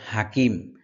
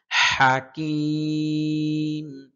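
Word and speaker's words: حكيم: এখানে অনেকে বলে হাকিম, হাকিম না, হাকিম। হা একটা গলার ভিতর কণ্ঠনালীর মধ্যখান থেকে একটা গরম বাতাস বের হবে।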